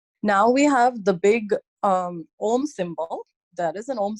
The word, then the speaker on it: Om: Om is usually spelled O-M, but it's pronounced A-U-M.